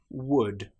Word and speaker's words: would: L do for example the word would could should in these cases again the L is completely silent the letters B and P